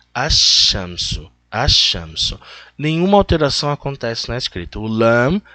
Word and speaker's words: الشمس: falei para vocês alexanderson o sol é pronunciado na verdade ashansú a Chanson nenhuma alteração